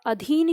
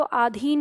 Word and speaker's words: अधीन: सदैव याद रखना है की यह अधीन शब्द होता है परीक्षा में आप देखेंगे हम बोलते हैं तो हम इसको आधीन का देते हैं तो इसको याद रखने